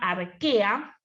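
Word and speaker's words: Archaea: esos familias se llama arquea si se que se escribe a reig área pero no no se arquea y el otro dominio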